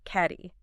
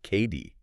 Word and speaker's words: Cady: I have heard caddy like a golf caddy for years. So many people say that. It's actually pronounced KD.